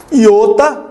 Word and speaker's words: Iota: Iota ou iota, não importa a pronúncia, lembre disso.